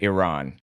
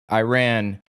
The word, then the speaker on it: Iran: It looks like Iranians pronounce it Iran. So that's a correct way, but Iran is an Anglicization common in American English.